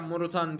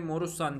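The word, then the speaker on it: Moruțan: Bu arada yani bir kısım Morussan diye okuyor. Bir kısım hala Morutan diyor. Muhtemelen şu TN'nin altında bir tane çizgi var ya. O çizgiden dolayı Morussan diye okunuyor.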